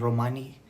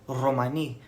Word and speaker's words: Romani: and writing Roma and Romani for example some people just say Romani some people say Rromani with that hard R sound using either the Double